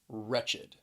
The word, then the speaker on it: wretched: this is an adjective wretched keep in mind this word has two syllables because that e d at the end is the second syllable that id wretched now let's look at